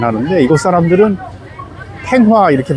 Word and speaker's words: Thanh Hóa: 여기 타노아라는 곳은, 근데 우리가 이제 타노아 이렇게 이제 발음을 하는데 이곳 사람들은 탱화 이렇게 발음하더라고요. 우리 그 절에 걸려 있는 사진을 탱화라고 하잖아요.